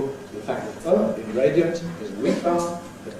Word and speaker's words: radiant: We've got here the example radiant. Radiant. She had a radiant smile.